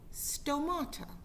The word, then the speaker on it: stomata: leaves they are called stomata sound sounds like the word tomato sto and from those little